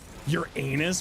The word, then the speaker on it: Uranus: Your anus.